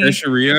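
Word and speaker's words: Teixeira: a mil military family teria I think is how you say it teria gotcha he was an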